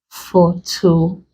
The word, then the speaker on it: photographic: So examples, we have photographic. First, we break into syllables. Photographic. You place the stress on the syllable before last. So this is the last, this is the one before it. This becomes capital letters. Photographic.